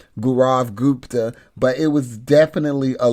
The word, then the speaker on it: Gaurav Gupta: Gaurav Gupta.